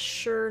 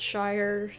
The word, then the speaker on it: shire: uh george lund says all the counties with shire in the name are pronounced sure not shire yeah sorry about that